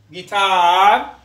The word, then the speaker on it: guitar: to the letter u u is silent when it comes after g and before it vowel examples yes which means to think or to reckon guidance which means to give an advice guitar guest a guest is